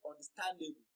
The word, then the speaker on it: understandable: So when you pronounce the word understandable, you can actually hear the increase in the pitch and in the duration of pronunciation of the word or of the syllable stand.